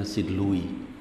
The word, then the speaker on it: St. Louis: St. Louis dibacanya St. Louis.